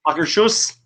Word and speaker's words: Akershus: Was the vegetable terrine from Akershus in Akershus, however you pronounce it. Akershus.